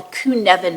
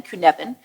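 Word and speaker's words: Cynefin: a model called the kunan model he's Welsh so that's spelled exactly differently than you think it's c y NE f n Kevan the point of it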